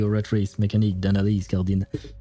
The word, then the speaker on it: oratrice mécanique d'analyse cardinale: I should pronounce it with the actual French accent. Oratrice mécanique d'analyse cardinale. But I'm so used to hearing it with the English accent when they pronounce it.